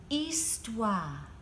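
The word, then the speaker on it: histoire: word history in French you say it like this East wha East wha can you say that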